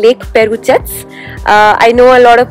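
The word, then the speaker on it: Perućac: For our first stop, we are headed to a place called Lake Perucac. I know a lot of people would actually call it Lake Perucac, but that's not how it is said or pronounced.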